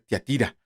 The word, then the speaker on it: Tiatira: toca la iglesia de yo antes le decía tiatira otro le dicen tía otros pero no no tiene acento entonces la iglesia de